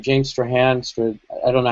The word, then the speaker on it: Strachan: uh how do you pronounce his name James Strahan I don't know how you say oh as far as I know it's James Strachan Stratford yeah once he left then that's when